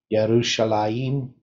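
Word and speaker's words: ירושלים: Well, there's different definitions for Jerusalem, but you know, it's the city of peace or the teaching of peace is generally Yerushalayim is the pronunciation.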